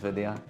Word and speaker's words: Vidya: It's not a silent Y.